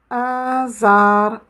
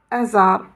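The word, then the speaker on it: آزر: Ça veut dire qu'on va le prononcer beaucoup plus long. Au lieu de dire « je vais dire « zar ». Azar, Azar. Vous connaissez Azar?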